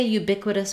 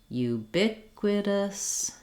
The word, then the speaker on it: ubiquitous: end of this word once you can say ubiquitous by itself do try practicing it in some